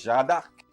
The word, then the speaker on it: Jeanne d'Arc: Well, in English we say Joan of Arc, right? But in French it's Jeanne d'Arc.